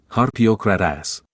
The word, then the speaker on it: Harpócrates: Los místicos de los misterios de Eleusis pronunciaban aquel nombre en la siguiente forma: Harpiokratas.